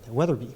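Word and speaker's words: Wetherby: So, as I mentioned before, True Blood Park, we have Oh, I've been mispronouncing this. Weather Weatherbe Oh, it is there is an R. Weatherbe Park.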